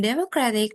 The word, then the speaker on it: democratic: So in democratic the stress shift from the first syllable democrat to the third syllable democratic and then economic the